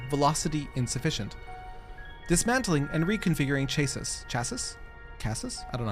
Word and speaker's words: chassis: It's pronounced chassis, rhymes with classy.